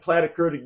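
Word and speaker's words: platykurtic: kurtic distribution is and plat kurtic distribution plat rhymes with flat so whenever I hear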